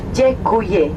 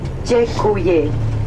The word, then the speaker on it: děkuji: Thank you in Czech is děkuji, D-E-K-U-J-I, děkuji.